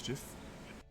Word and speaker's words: Jif: My name's Jiff.